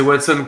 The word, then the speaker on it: Watson: le prononcer comment Watson ah c'est Watson comme le pote de Sherlock ben oui et d'ailleurs